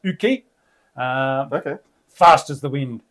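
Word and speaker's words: Jocke: With apologies to Joachim Yoki Broden, which is pronounced Uki.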